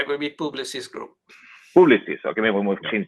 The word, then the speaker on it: Publicis: What would be a good pronunciation for that? It would be right. It would be Publicis Group.